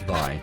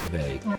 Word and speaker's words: Vi: It's definitely pronounced Vi, not Vey. That I'm sure of. It's Vi. Definitely Vi. Now, when I first bought it, I called it Vey, because it looks like it should be called Vey. Like rhymes with May.